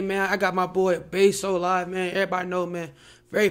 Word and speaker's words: Baysolive: I always thought it was Bays. I thought it was Baysolive. I just said it all together. You gotta say Bay_so_live.